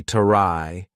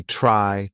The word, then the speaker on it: try: So for example, tr r y is not going to be try. It's going to be try try travel. Not the true t sound try.